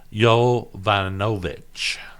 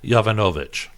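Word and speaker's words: Yovanovitch: Clinton her name is Marie yo von ovitch sounded out multiple syllables that sounded out so it's Marie Jovanovic and if you look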